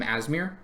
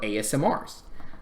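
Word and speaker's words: Aasimar: to replace the ASMR I always call them asmir until I started hearing how other people actually pronounce their names and I felt really dumb because they are not ass smears they are asmrs cool my bad so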